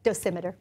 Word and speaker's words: dosimeter: The vocal dosimeter, am I saying it correctly? Yes, dosimeter.